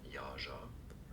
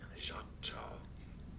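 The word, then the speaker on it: Yautja: There are different ways of pronouncing it since we don't really know they are all correct. So let's go through them. So our way was right too. Yaja yacha or yacha ya or ya.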